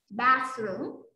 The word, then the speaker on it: bathroom: Mình cố gắng mình đưa cái đầu lưỡi kia ra ngoài một chút, được chưa? Bathroom.